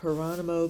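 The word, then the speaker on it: Jerónimo: and want to talk about hero graian it would in English look like gono gono graian that spelled with a J and um he was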